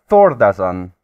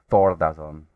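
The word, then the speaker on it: Thordarson: So Thordason, that is how you pronounce it. Thordason.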